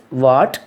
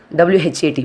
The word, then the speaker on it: what: The familiar words are, for examples, what, W-H-A-T, what, then when, then where, whether, why. Here we are not pronouncing the letter H, W-H-A-T, what, but we are pronouncing W-A-T, what.